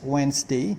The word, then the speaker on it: Wednesday: morning Today is Wednesday is pronounced as One day not Wednesday Wednesday kyudai face of flight